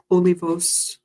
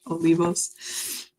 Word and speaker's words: Olivos: and goddesses Claudia Olivio Olivos I believe that's how you pronounce it in Spanish Olivos and the card that